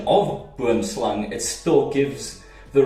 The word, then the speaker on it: boomslang: what it translates to, it actually gives you the correct pronunciation, both for snake, slang, and tree, boom. Boomslang. But if you say pronunciation of boomslang, it still gives the wrong translation or pronunciation.